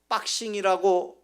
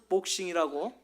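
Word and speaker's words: boxing: 같은 영어라도 미국에서는 빡싱이라고 발음하지만 영국에서는 복싱이라고 다르게 발음을 합니다.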